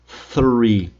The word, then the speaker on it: three: Esse é o jeito certo. Coloca a língua entre os dentes e pronuncia three.